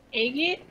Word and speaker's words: agate: Agate? It's a gate. Ah, okay, that's what I thought, but I wasn't sure. Specifically.